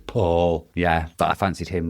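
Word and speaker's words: Pål: The Yeah, it's it's spelled P A L, but it's got an it's got a circle over the A, which means the A is pronounced O, so it's Paul.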